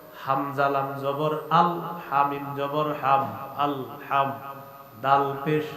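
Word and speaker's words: الحمدُ: পড়েন তো আমার সাথে আলহামদু আলহামদু আলহামদু আলহামদু আলহামদু আলহামদু হামজা লাম জবর আল হামজা লাম জবর আল হা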